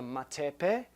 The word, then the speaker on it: matepe: I wondered what the other one was called, please, and if you could spell it. Yes. Okay, that is called a matepe, M-A-T-E-P-E.